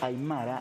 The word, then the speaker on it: aymara: dice aymara o aymara lo que pasa es que en el idioma aymara si el acento tiene posición fija y él siempre va a decaer en la penúltima sílaba de la palabra no tiene no tiene digamos sílabas que terminen en la boca al final por lo tanto se dice aymara y no al martínez que hablamos tenemos la influencia del castellano decimos al mar así como podemos conceptualizar